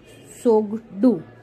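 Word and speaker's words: Tshogdu: It start with T बट T is silent, so it's known as सोगडू.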